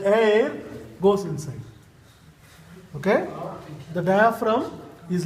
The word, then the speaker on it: diaphragm: This is the diaphragm muscle. Diaphragm. Yeah. No G. G is silent.